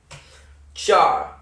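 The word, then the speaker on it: चार: Char, like Charzan. I don't know Pokemon. Charzander. Char. Like a charcoal. Char.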